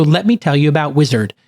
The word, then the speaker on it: Uizard: So let me tell you about Uizard. It's spelled Uizard.